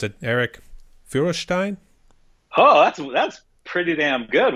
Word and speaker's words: Feuerstein: Yeah, it's Feuerstein in the motherland, or here in America, it's just Feuerstein.